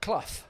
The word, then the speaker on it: Clough: Yeah, Clough.